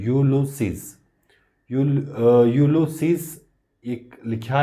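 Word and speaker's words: Ulysses: उन्होंने क्या लिखा हुआ, ये लफ्ज़ थोड़ा मुश्किल भी लग रहा है तो ये इसकी प्रोनाउंसिएशन है यूलुसीज.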